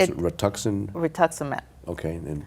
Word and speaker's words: rituximab: And then what happened that you finally found the, how do you pronounce it? Rituximab.